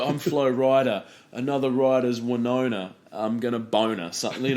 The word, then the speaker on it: Winona: Winona Ryder yes and Winona uh rhymes with Boner sure so I would